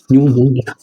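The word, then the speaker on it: pneumonia: Sorry ये pleuro निमोनिया, अरे यार स्पेलिंग PNE न्यूमोनिया, स्पेलिंग आप लोग देख लीजिएगा, ठीक है। ये साइलेंट होता है इसमें, ठीक है।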